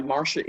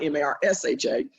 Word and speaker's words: Marcia: at Marcia TA, and my Marcia is Marcia. I give you a way to spell it. I use mnemonic devices. I tell people I'm a member of the CIA. And they know that I am Marcia, not Marsha.